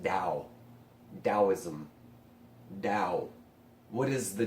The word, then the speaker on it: Tao: or TA oh but even when it's spelled TA oh it's pronounced Dow Taoism now what is